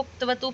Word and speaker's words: क्तवतु: कतवतु प्रत्यय बोलेंगे तो पूरा क और त का उच्चारण होगा जो गलत होगा, तो या तो त प्रत्यय बोलते हैं या फिर हम बोलते हैं क्तवतु प्रत्यय, मतलब क की भी आवाज आए थोड़ी सी कंठ से और त की भी आवाज आए।